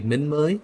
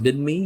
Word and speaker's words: Minmi: So we're going to be moving over to Minmi, or how they pronounce it weirdly, Minmei. It's pronounced Minmi usually.